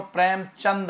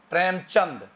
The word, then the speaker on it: प्रेमचंद: प्रेमचंद हैं ये, चंद्र नहीं, प्रेमचंद।